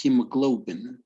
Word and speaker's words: hemoglobin: humor living yeah great however it's hemoglobin it's like you have an u between the the o and the b hemoglobin hemoglobin yes